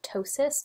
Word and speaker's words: ptosis: insertion of this term ptosis. So ptosis is a medical term that means muscle drooping. The P is silent, so it's just pronounced ptosis, but we'll see this